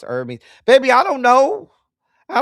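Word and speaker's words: Hermès: Oh, it's not pronounced like the Greek god Hermes. It's pronounced Hermes.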